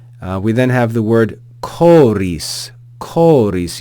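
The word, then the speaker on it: χωρίς: then have the word choris choris you see the the letter Ki or Chi it's pronounced like the hard CH in chorus chorus so we have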